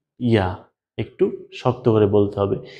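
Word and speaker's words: ياء: জিহ্বার মধ্যখান, জিহ্বার মধ্যখান, ওই জিহ্বার মধ্যখানের বরাবর উপরে তালুর সাথে লাগিয়ে বলুন জিম, শিন, ইয়া।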